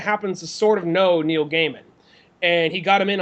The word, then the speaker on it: Gaiman: I mean, like gay man, right?